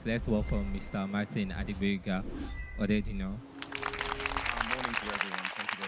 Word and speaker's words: Odedina: So even though he pronounced my name the wrong way, I'm Odedina, not Odedele.